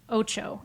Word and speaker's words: OTXO: Ocho. It's spelled OTXO.